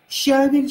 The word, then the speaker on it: щавель: Да, в этом слове довольно-таки часто делается ошибка, потому что в этом слове, ну, ударение в нем ставится на «е», щавель, щавелевый суп, щавель.